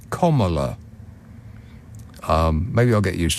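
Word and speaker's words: Kamala: K comma that we you want to say camela cuz that's how it's spelled but apparently it's comma um maybe I'll get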